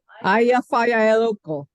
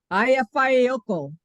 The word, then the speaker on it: Eyjafjallajökull: And you can pronounce the name. Eyjafjallajökull. That's pretty good. So easy to pronounce his. Say it again, Lynn. Eyjafjallajökull. It's not quite right, but it's close. Eyjafjallajökull.